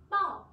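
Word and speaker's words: 报: Ở đây chúng ta có một từ trông nó cũng na ná, từ phủ đó là từ bò. Đáp án D, từ này chúng ta đọc là bò nhá.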